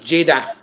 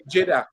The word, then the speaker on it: Jaiden: how you pronounce it my last name is j-a-i-d-a-a Jada Jada yeah sorry guys I'm